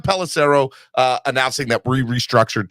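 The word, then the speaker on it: Pelissero: was broke uh by Tom Clarissa pelarissa row I can't say his name correctly Jason thank you Tom pellicero uh announcing that we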